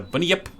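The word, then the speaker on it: Bunyip: cryptids elsewhere um australia this is a bunny up that's how you pronounce it something like that the bun yep uh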